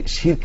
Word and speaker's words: শিরক: বোন, আপনি প্রশ্ন করতে গিয়ে বারবার শিরক বলছিলেন, উচ্চারণটি সঠিক উচ্চারণটি শিরক হবে।